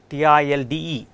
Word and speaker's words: tilde: we can use another notation right a tild t-i-l-d-e or this notation how we are going to pronounce it tilde is it clear can be